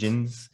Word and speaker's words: Djinns: Djinns. I messed that Djinns. one up. Don't pronounce the D.